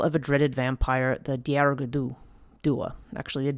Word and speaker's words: Dearg Due: And, okay, this is said to be a dark tale of a dreaded vampire, the Dearg Due. Actually, the Dearg Due. I don't remember there's an extra syllable there.